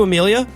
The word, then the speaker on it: Amelia: Also, apologies to Amelia, whose name I pronounced as Emily last week because it's spelled weird, or actually